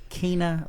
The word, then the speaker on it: Kyna: And I would say, Kyna, like Tina, but with a K-Y.